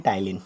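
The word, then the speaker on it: ptyalin: याद रखिएगा पी is silent. ठीक है, पी पे मत जाइएगा, पी इसका साइलेंट होता है और इसे पढ़ते हैं टाइलिन।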